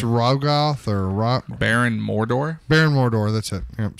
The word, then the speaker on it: Mordo: It's Rogoth or Baron Mordor. Baron Mordor. That's it. Yep, sorry. Mordo. Not Mordor. There's But no R on the end.